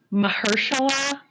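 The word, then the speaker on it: Mahershala: Mahersula Ali.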